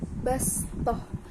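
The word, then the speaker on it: بسطة: kholqi bastoh Hai bacaan bastoh Sisi terdapat huruf steam di atas diatas huruf sport dan membacanya dengan menggunakan huruf n yakni bastoh bukan menggunakan huruf z yaitu Bahwa oh no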